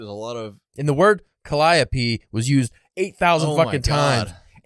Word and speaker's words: Calliope: ] times and I in my head I kept reading it caliopia or something and then I looked it up oh my God and then and then knowing that it's pronounced Calliope makes it not work in